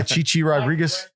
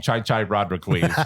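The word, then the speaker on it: Chi Chi Rodriguez: it starts back up today so I miss Chichi Rodriguez For You golf oh yeah Chichi Rodriguez or something like that right right Chichi Rodriguez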